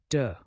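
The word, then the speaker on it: deux: Moving on to number 2, which is de. It sounds like duh.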